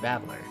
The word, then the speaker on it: Battler: Problem is my given name is made up of the characters for fight and person, and it's pronounced babbler.